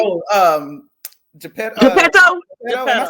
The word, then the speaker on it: Geppetto: Oh, Geppetto. Geppetto. Am I saying it right? Yeah, Geppetto.